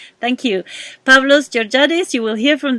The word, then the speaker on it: Pavlos: Yeah, is your name Pablo or Pavlos? Pavlos. Yeah, exactly as it's spelled.